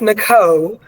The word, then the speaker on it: Niko: Well, it's pronounced Niko, so it's Nicole without the L-E.